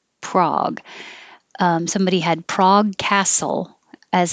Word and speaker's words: Prague: And we use the same vowel in Prague. Prague.